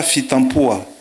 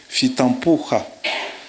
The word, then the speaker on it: Fitampoha: on ne prononce pas Fitampo, on ne prononce pas Fitampo, Fitampoha.